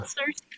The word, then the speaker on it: sirsee: It sounds like the word sir. A surprise. Uhhuh. Uhhuh. Yeah. A little Cersei for you.